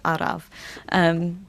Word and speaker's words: araf: It's araf.